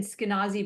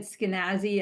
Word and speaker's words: Skinazi: Um and then so last name I said Skynazi but you said Skynazi and I guess that's because you're from Canada, right? Where we say that is probably true. I take any pronunciation of my name first and last. I I don't discriminate. Um it's the same as the name Ashkanazi or in Arabic Eskanazi.